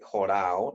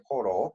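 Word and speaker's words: ὁρῶ: Bueno, jorao, ya sabemos que no se dice jorao, sino simplemente se dice joró, así aparece en el Nuevo Testamento.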